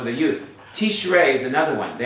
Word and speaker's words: Tishrei: Tishrei is another one. They always say Tishri and stuff because they don't realize there's a seirei underneath the resh for not Tishri, but the month of Tishrei.